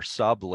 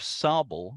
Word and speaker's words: Sable: So that's the pronunciation of Sable rather than Sable comes from French. It's kind of an approximation of the French.